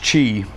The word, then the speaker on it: Qi: is Qi charging and it's actually pronounced Qi Qi charging and you don't know